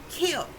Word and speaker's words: Khil: is kiel it's pronounced kill it's spelled k-h-i-n okay but it sounds like kill k-i-l-l again which language people